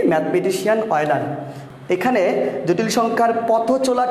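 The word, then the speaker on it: Euler: Mathematician আমরা বাংলায় উচ্চারণ করে থাকি অয়লার।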